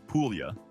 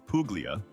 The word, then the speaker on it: Puglia: Puglia, pronounced Puglia, not Puglia, we beg you, has long been Italy's quieter, sun-soaked cousin.